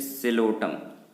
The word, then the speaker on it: Psilotum: ये स्पेलिंग थोड़ी मिस्टेक है, इट इज सिलोटम, PSILOTUM, this is सिलोटम।